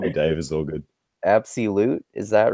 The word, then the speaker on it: Appsii Lute: Mabel just call me Dave is so good absolute is that right yeah that's fine yeah and